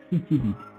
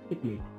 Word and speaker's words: cichlid: কেউ কেউ একে বলে সিচিলিড, কেউ কেউ বলে এটা চিকলিড, কিন্তু অ্যাকচুয়াল উচ্চারণ বা প্রোনাউন্সিয়েশন হলো সিকলিড, সিকলিড।